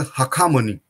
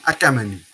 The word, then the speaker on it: Hakamani: Greeks were not able to pronounce the word Hakamani. They pronounce as Achaemenid. And that's why this dynasty is called as Achaemenid dynasty in English. But the actual name of that dynasty is Hakamani. Hakamani is not name of person.